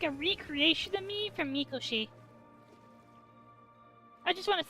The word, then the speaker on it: Mikoshi: recreation of me from Mikoshi. I just want to say this or I guess they pronounced it Makoshi, but it's I'm I'm a recreation.